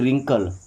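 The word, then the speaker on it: wrinkle: व्रिंकल ने क्या पढ़ते हैं? रिंकल।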